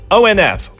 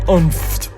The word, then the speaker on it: ONF: ONF works too. Just don't say umft.